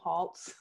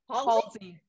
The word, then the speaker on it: Haltz: I'm just so happy that people learned how to pronounce my middle name, Haltz. What did they used to say? Halsey. Halsey.